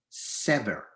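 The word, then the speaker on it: שבר: So in fact, we could easily read this word shever with the letter shin as shever, or we could read the shin as a sin, pronouncing our word as sever, which is another word in Hebrew meaning hope.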